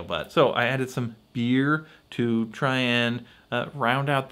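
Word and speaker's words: Byrrh: I always call it Burr but it's supposed to be pronounced beer because it's French it's a French aromatized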